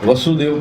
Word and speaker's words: वसुदेव: गलती कर देते हैं वासुदेव और वासुदेव दोनों का स्पेलिंग एक ही है तो कभी कभी लोग क्या कहते हैं कृष्ण वासुदेव के बेटे हैं कृष्ण वासुदेव के बेटे नहीं है वासुदेव के बेटे पिता का नाम है वसुदेव और बेटे का नाम